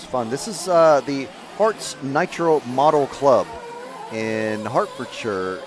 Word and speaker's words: Herts: But I think if you search for H E R Ts, it's pronounced Harts, but it's looks like Herz.